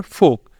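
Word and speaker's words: folk: ओ के बाद एल जैसे योक और फोक ये भी दोनों जो वर्ड है यहां पे भी होगा एल साइलेंट यहां पे भी हम एल को नहीं बोलेंगे एल रहेगा इधर भी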